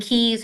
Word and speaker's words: Caius: And there's one, Gonville and Keys has Key School, which actually is spelled CAIUS School on Instagram.